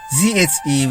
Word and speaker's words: zhi: This alphabet I in ZHI is only a written alphabet, and it's pronounced as z.